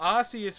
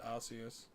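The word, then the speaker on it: Arceus: Yeah, Arius was the original pronunciation. I remember it was in the um Jewel of Life movie as well, was it not? Archus and the jewel of life, but they said Arius. And because of that movie, I pronounced it Arus, but it does not sound great.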